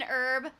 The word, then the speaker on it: herb: rubbish bin oh yeah you have to pronounce the h in herb who's herb who's herb